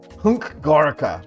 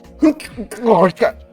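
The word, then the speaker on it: HNK Gorica: I imagine you pronounce this like, you know, when you need to sneeze, or you're sneezing, but you're trying to hold it in. Like, Hunk Gorica. That's how you say this club's name.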